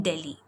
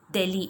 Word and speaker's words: Delhi: the Red Fort in Delhi. It is pronounced as Delhi, not Delhi. In English, you pronounce it as Delhi.